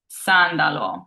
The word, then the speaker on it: sandalo: And last we have sandalo, which means sandal, and it is followed by a vowel, but there's no vowel before it, so it's a true S sound. Sandalo.